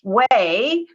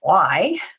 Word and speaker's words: WAI: Initials are WAI, which we pronounce way. Unfortunately, screen readers pronounce it Y, but that's okay.